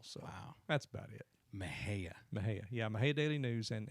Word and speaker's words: Mexia: Yeah, Mahia. Bob Wright. How do you spell that?